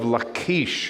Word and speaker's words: Lachish: is the city of lakeish it sounds like something you should eat in the morning right that's how you pronounce it in hebrew let's uh drone over lachish and we'll see what